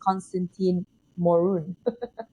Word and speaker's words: Constantin Morun: lane what was it like growing up as Constantine morun and you pronounce my name so well there thank you